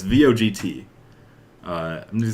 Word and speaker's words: Vogt: So the movie being directed by, so I don't know how to pronounce it specifically. Jordan Vogt Roberts? Do you know? It's VOGT.